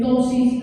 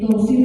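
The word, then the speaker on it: ptosis: Hay una palabra que dice en el video que dice tosis renal. Tosis renal comienza con P, se escribe P, tosis.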